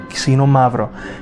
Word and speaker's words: Xinomavro: Xinomavro. Ksi, not kis. Ksi. It's the opposite.